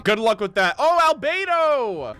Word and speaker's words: Albedo: luck with that oh Albedo albado spends most of his time ah they called his name wrong that's literally how Gene pronounced it in that one voiceover for Jean she says albado and I was like